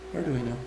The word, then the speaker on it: Arduino: So I've been knitting on these socks for a while, and you've been working on the Arduino, or how do you say it? Arduino.